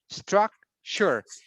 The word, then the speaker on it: structure: Structure. So this word is always pronounced like we don't say tour. It's like sure. Sure. Like culture, agriculture, furniture, structure. Yes, always the ending is sure, sure, sure.